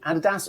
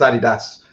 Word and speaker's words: adidas: known which go on it tends to depend on which side the atlantic you are and that's my experience anyway but it's adidas that's that's how i've always that's how i've always pronounced it adidas got it yes yeah